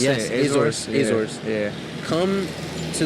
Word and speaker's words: Azores: Azores.